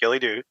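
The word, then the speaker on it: Gille Dubh: During Dur, God damn it, in Gerlock, the Gilly Doo, pronounced Gillyoo, is one of the more haunting and gentle figures of Highland folklore.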